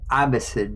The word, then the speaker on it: Abbasid: Yeah, I was just saying Abbasid.